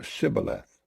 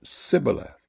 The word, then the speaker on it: Shibboleth: If he said, 'Nay,' then said they unto him, 'Say now Shibboleth.' And he said, 'Sibboleth.' For he could not frame to pronounce it right.